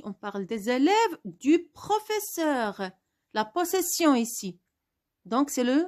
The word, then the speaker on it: professeur: Pourquoi je n'ai pas ajouté l'accent sur le E? Parce que E qui précède deux consonnes se prononce E. C'est une règle. Pourquoi pas, pourquoi on a écrit deux S? Parce que si j'écris un seul S, je vais prononcer le son Z.